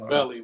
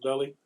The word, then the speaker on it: Beli: so so it's pronounced belly we was talking about that it's pronounced belly belly yes can pronounce billy